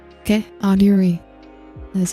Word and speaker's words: Audire: It's pronounced Audire. Okay? Audire. That is how you pronounce it. I will also accept Audire.